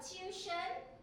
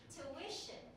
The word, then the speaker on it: tuition: you say that again is three syllables tuition okay so when I say tuition where's the stress tuition very good now let's say this word together again so now you know not Malay all the yes now you know it's not it's tuition thank you all right